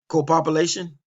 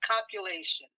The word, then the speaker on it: copulation: Copopulation? No, just copulation.